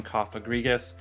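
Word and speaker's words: Cofagrigus: pokemon of the day to pronounce it is coffee regis now it is a coffin pokemon so coffin cough agrigus it's a weird name so i feel like it could be mispronounced and let's just talk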